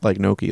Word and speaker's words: Noiky: I don't know if I love it as much as you, but I feel like it's it should cool be spelled like Noiky, like G-N-O-C-H-I.